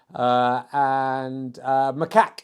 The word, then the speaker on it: macaque: Macaque is how you say that.